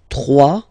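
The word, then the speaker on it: trois: 3, final S not pronounced.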